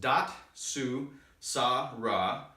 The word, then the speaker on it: Datsusara: film we're gonna hold down the fort ourselves dot sue Sarah it's pronounced dot sue saw raw Japanese it means to escape suffering and find